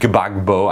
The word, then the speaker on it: Gbagbo: uh so there was a Christian candidate president gbagbo I think is how you say his name